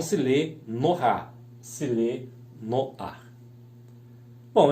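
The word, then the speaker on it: נֹחַ: E Noé, Noar, né, que é o Nun com O, o Het com A. Não se lê Nohá, se lê Noar.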